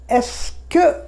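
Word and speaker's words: est-ce que: এইখানে একটা এসকে বলে একটা এক্সপ্রেশন আছে, বানানটা কি ইএসটি হাইফেন সিই, তারপরে কিউ ইউ ই, কে, এস কে, একসঙ্গে উচ্চারণ করে আমরা এসকে।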